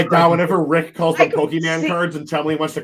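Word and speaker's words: Pokémon: if I'm not mistaken, in the Pokeman sets. in the Pokemon. Don't say no. I listen. No, it's me. Say it right.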